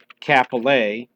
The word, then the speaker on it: Kapolei: to the airport search kapolei which again is the correct way that hawaiians pronounce it and it is ph